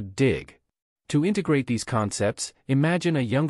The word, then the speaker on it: 弟: The pronunciation of the character, di, is quite close to dig.